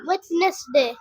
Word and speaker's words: Wednesday: Wednesday. আচ্ছা, এখানে ডির উচ্চারণ হবে না, তুমি WEDNESDAY, ওয়েডনেসডে, ঠিক না?